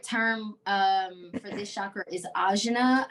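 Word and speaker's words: आज्ञा: The Sanskrit term for this chakra is ajna, I believe is how it's pronounced, Ajna, and it means to know or to perceive.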